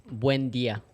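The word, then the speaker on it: Buen día: It's Buen dia.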